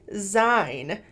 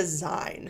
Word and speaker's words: zine: school English teachers, and they pronounced it Zine. Now, so far, most of the people on TikTok are agreeing, yes, it is Zine, and I know they're right. But somebody did say that in Ohio, they said Zine as well, and weirdly, Urban Dictionary has its pronunciation set to Zine.